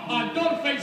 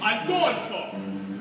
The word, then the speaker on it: Adolfo: Adolphus, no. Adolfo. You must learn to say my name right.